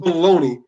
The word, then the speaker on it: bologna: spelled the right way well how is it baloney when it's spelled logna it is spelled and